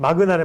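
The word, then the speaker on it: Magna: 그래서 이 마그마 인터내셔널 회사의 주가를 제가 해외 주식으로 봤어요. 이 3개월치를 봤는데요. 네, 마그나래 마그나 죄송합니다.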